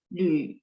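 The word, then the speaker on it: 缕: Lü, teman-teman lihat nggak? L, terus ada U.2 di atas. Bacanya mulutnya setengah bulat ya. Terus dia nada 3, Lü.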